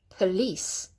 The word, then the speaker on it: police: P, not po or po, but just go p. It's a schwa sound. P, police. Police. Can you hear I'm emphasizing the lease?